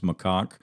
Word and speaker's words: macaque: By the way, I looked it up, and that is how you pronounce macaque, and it segues nicely to our next headline.